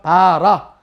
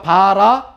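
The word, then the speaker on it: בָּרָא: 바라.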